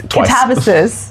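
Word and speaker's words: Katabasis: That's how you say it. We went and saw RF Kuang talk and it's Katavis.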